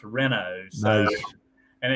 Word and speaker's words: Reno: I tell people it's spelled Reno, but it's pronounced Reno.